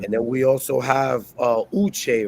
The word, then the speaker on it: Uche: we also have Uche, right, from Dapper Yeah. Cigars. You I got it.